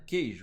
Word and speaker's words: queijo: O que aconteceu no queijo? Ó, esse QU virou um dígrafo. Beleza? Ele é nulo, ele não produz som. O QU tem som de K. Então, quando o QU tem som de K, ele é dígrafo.